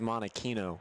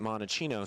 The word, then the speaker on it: Monokino: of jail free card my last name is monokino everyone always pronounces it monochino so i understand the